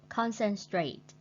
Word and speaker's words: concentrate: Number 8, concentrate. Concentrate. Concentrate means tập trung. We put the stretch on the first syllable.